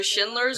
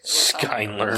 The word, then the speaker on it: Schindler: pronounced that right sure I was kind of debating on whether I should go schindlers or Skyler nope it's Schindler but I went the other way skler compl idiot sorry I